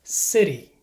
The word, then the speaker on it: city: result of lazy speech as a general rule when T is between two vowels it is pronounced like a fast D sound to many Spanish speakers